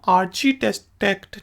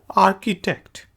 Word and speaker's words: architect: इसे हम आर्चीटेक्ट नहीं कहते, आर्किटेक्ट।